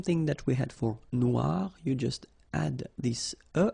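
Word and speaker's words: noire: So phonetically it is exactly the same. Noir.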